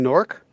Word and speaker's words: Newark: how do you pronounce Newark uh Newark yeah exactly Dave anything you mean nork Newark yeah Newark Newark yeah Newark n-o-r-k Newark yeah it's just